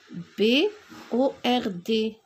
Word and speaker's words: bord: qu'on a encore le bord aussi b o r d le bord il ya la lettre d elle est muette pour la troisième activité